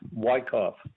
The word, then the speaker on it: Wyckoff: and uh good morning mr wyckoff am i pronouncing your name correctly that is correct why cough okay my name is